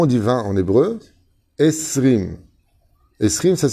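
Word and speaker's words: עשרים: Esrim. Esrim, ça s'écrit comment?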